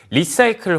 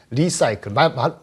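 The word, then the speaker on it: Li-Cycle: 캐나다인데 미국에 상장되어 있는 리사이클, 발음 그대로 리사이클 비슷하죠. 근데 여기서는 리는 사실 리튬의 리사이클이기 때문에 LI더라고요. LI죠. 발음은 비슷합니다.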